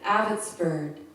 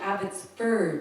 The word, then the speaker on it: Abbotsford: Broadcast, the correct pronunciation, Abbotsford, not Abbotsford.